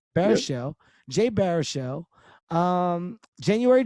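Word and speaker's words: Baruchel: uh how do you say jay's last name bear show bear show jay baer show um january jones um uh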